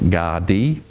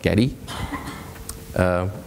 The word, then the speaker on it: Gadi: smart that's right so yeah I had a macrame picture that must be in there somewhere later Guardi pronounced Guardi org re not Getti Guardi it's actually a Ngunnawal